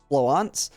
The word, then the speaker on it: Florence: Someone let me know that it's the French version of the name since her gun is a French gun, and that it is I've looked at some pronunciations for it online for Florence in the French version, and from what I can tell it's Floance.